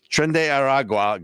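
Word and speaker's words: Tren de Aragua: Trend de Aragua gang, or Trend. Thank you. I would have butchered that, but so they are taking over a town.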